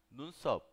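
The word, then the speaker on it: 눈썹: Nunsop. Nunsop. Nunsop. Nunsop. Así es como se escribe y así es como pronuncia.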